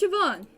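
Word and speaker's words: Siobhan: I've ever seen what about the hallway portrait shoban shoban it's pronounced shoban what a menacing name says here that she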